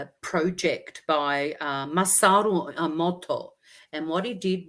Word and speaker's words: Masaru: So his name is Masaru, phonetically, Masaru, Emoto, which sounds like emotion anyway.